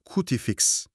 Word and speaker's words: Cutifix: Bugün elimizdeki kaynaklara dayanarak Cutifix isimli evet cutifix olarak telaffuz ediliyor.